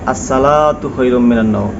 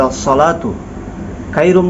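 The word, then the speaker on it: الصلاة خير: দেখেন যদি আপনি ফজরের আজান দেন অনেকে বলে আসসালাতু খাইরুম অর্থাৎ এখানেও সদের জায়গা সিন উচ্চারণ করে তো দেখেন এক অক্ষরের জায়গা আরেকটা অক্ষর উচ্চারণ হচ্ছে লাহান জলি হচ্ছে এখানে হাইয়া আসসালাতু বলতে হবে সদ দিয়ে আসসালাতু খাইরুম অনেকে বলে খাইরুম অর্থাৎ খ উচ্চারণ করতে পারে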